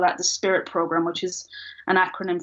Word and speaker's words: SPIWIT: It's spelled SPIWIT. Spirit.